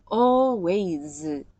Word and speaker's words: always: sometimes 이것도 보시면 always 마지막 소리 Z 소리인데요.